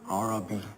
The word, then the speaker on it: Arabi: Arabi. That's what I said. Arabi. Pronounce the ayn, Baba.